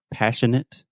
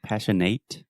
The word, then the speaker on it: passionate: said passionate passionate so remember the majority of adjectives in English that end in ate we will simply produce the it sound so passionate passionate delicate delicate adequate adequate adequate adequate articulate articulate there we go so you want to get that eight sound out of your mouth and it passionate perfect